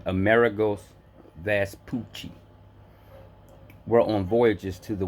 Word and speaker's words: Vespucci: and perhaps that's Poochie his name is vest Poochie cuz they uh they broke it down so you could pronounce it correctly so it's Amerigo Vespucci we're on voyages to